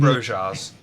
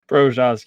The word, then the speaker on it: Brojars: I think you're mispronouncing Brojars. Brojars, yep.